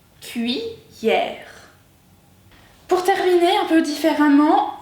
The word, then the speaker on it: cuillère: Cuillère. Dans ce cas-là, le I, on peut l'entendre, et permet aux deux L de faire le son ie. Cuillère.